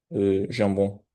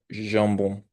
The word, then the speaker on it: jambon: Et, et en français, on les prononce avec avec un peu de friction avec notre langue et la partie supérieure de la bouche. Alors on dit jambon, jambon.